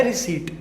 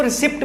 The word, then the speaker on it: receipt: रिसीट। ठीक है, कुछ बच्चे इसको रिसिप्ट बोलते हैं, तो इसको रिसिप्ट नहीं बोला जाता, इसको रिसीट बोला जाता है।